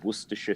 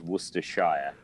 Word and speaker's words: Worcestershire: So nobody in Worcester says Worcestershire. Now, if you live in the States, you probably would say Worcestershire. But it's Worcester or Worcestershire sauce. Worcestershire sauce.